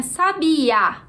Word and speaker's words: sabia: Já no número 9 a gente tinha sabia. Então, a sílaba tônica é o a última sílaba da palavra.